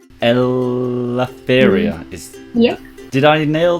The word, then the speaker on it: Eleftheria: So my name, as we've already mentioned, is Eleftheria, and it's a bit difficult to be pronunciated.